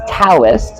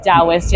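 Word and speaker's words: Taoist: feel like that's a little Universal not just Dost yes did I say that right I'm so bad with it's usually pronounced toist in the US it's with a t yes but it's pronounced DST and in my head I see it is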